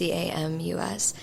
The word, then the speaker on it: Camus: It's not pronounced Camus, but it's Camus.